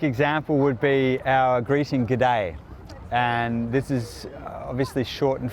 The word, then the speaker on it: g'day: what we do is we reduce those two words into really just one so the good becomes good and the day stays there and we say g'day and when you add